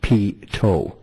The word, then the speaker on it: pitot: And he gives me a little tutelage on the pitot, pronounced pitot, which is the tubing for the speed indicator sensors.